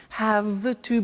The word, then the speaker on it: have to: pronunciation I have to notice I don't say V I say F have have it becomes have to have to becomes in pronunciation have